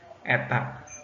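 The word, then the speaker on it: η: Sebuah sel surya memiliki efisiensi, ini eta dibacanya, eta.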